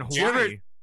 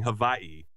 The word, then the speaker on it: Hawaii: and now i know i keep saying hawaii because over there they pronounce their w's as v's right that weird right so